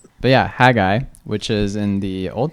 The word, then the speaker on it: Haggai: That's pronounced Hagi, not Haggi.